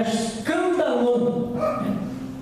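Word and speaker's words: σκάνδαλον: A palavra escândalo no grego é escandalon. Talvez o sotaque e a pronúncia seja diferente.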